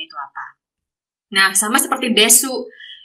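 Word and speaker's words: です: Nah, sama seperti desu. Ini desu juga banyak yang salah karena desu ini disebutnya pengucapannya hanyalah des.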